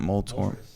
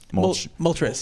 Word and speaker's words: Moltres: Not Moltor. Moltres.